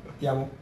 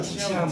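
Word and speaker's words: te amo: 띠아모? 야. 근데 우리가 원래는 발음을 띠로 알고 있었는데 띠아모. 어제 그랬을 치우로 치아모. 치아모. 맞아요.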